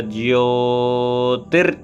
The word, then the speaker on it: ज्योति: अब एक चीज ध्यान दे, बहुत लोग ज्योति बोलते, ज्योति नहीं, ज्योति, ज य मिलके जिया और ओ की मात्रा ज्योति।